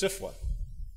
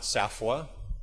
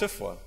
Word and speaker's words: SFWA: the pronunciation, and that it's not SAFWA or SFAFWA, it's SFWA.